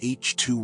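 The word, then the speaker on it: H II: In the disk of the Milky Way, embedded in the spiral arms are regions called HIi regions, pronounced H2 regions.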